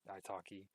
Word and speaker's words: iTalki: And then to the left again, we have Preply, and I pronounce it Italki, which these are tutor services.